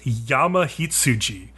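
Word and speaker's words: やまひつじ: However, goat is also sometimes pronounced yama hitsuji, which basically translates to mountain sheep.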